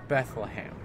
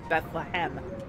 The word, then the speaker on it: Bethlehem: guys and what is Bethlehem you said it wrong but yes how do you say it Bethlehem not ham yeah author says Georgia